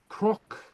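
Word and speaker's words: cnoc: Um, a CN is pronounced like a CR. Okay. Uh, and the same with a GN is pronounced as a GR.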